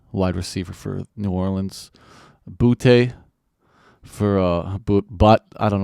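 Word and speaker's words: Boutte: Receiver for New Orleans boote for uh but I don't know sorry buddy yeah booty booty okay there's no uh I went to LSU Accent on the E but anyways we'll clarify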